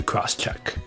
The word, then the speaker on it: Crosschq: you should apply to cross check without further Ado let's get started hey my name is I'm the VP of marketing at a company called crosscheck c-r-o-s-schq gets its pronounced cross check can you tell us